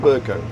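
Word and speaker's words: Bercow: That's how you pronounce it, John Burko? Burko, yes.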